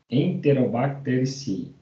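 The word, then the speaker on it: Enterobacteriaceae: tem assim né enterobactérias mas o certo de se pronunciar é família enterobactérias enterobacterici tá são as principais responsáveis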